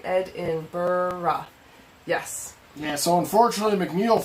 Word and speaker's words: Edinburgh: Gorgie says, Edinburgh is the correct pronunciation. Did I do that right? Edinburgh.